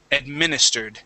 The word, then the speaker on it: administered: divulged okay uh let's practice the short I sound on administered so instead of saying admin admin administered try that administered there you go that's it